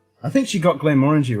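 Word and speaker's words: Glenmorangie: harvin correctly it was close when i said glenn moringe i think she got glenn orangey right trying to remember now dj cue ball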